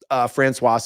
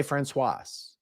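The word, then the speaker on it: Françoise: emails and comments saying, you're saying the name wrong in French. You don't pronounce the S. And then French people will tell me, Francois is a man's name. Francoise is a woman's name. And that's why I say it that way.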